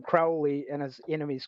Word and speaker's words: Crowley: His friends called him Crowley and his enemies called him Crowley.